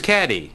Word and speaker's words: Cady: started her name is caddy caddy Haron where are you caddy that's me it's pronounced like Katie a fictional character whose